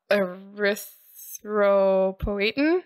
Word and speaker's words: Erythropoietin: Erythropoietin?